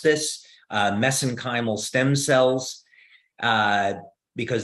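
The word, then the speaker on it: mesenchymal: uh pronounce this uh mesenchimal stem cells uh because that's how they pronounce it in Ireland so that's how I pronounce it but but the actual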